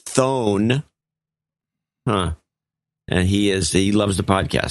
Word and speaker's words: Thon: In Lethbridge, Alberta, Canada, wants to mention her husband, David Thon, pronounced Dave Van Thone.